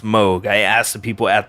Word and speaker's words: Moog: moog a synthesizer a lot of people say moog but it's actually pronounced moog i asked the people at the company but